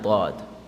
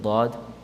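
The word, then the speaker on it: ض: So the side of the tongue, it touches the gums of the premolars and the molars. And this is one of the hardest letters to pronounce in the Arabic language. Dad. It creates a bubbling sound.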